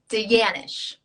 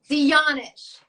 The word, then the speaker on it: de Janasz: my doctor today i'm going to get your name wrong danish there you go yeah no not as good as it could be can you say can you say it once for our audiences thank you dionish but but you know if you look at